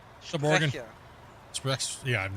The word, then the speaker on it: Sprecher: Spencer? Oh, I'm saying it wrong again. Hold on. Spectre? Yeah. Yeah. Well, actually, sorry, I'm gonna try to say it correctly. Sub Oregon. Sprecher.